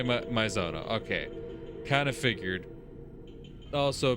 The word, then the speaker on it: 前園: 被害者は前園静香、いや、聖と読むのか。この部屋の借り主です。 Yeah, say Maizona.